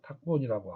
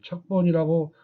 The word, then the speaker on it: 탁본: 그래서 이렇게 글씨를 박아낸다는 뜻으로 쓰일 때에는 이 척을 탁으로 발음해서 탁본이라고 하고 이것을 척본이라고 혼과음을 적으면 틀린 답이 됩니다.